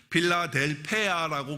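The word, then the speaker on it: Φιλαδέλφεια: 거예요.이 빌라델피아라고 하는 것은 원래 그 그리거에 보면 빌라델페아라고 그렇게 발음을 하는데 그 단어가 두 개가 합쳐져서 형제 사랑이라고 하는 뜻이에요.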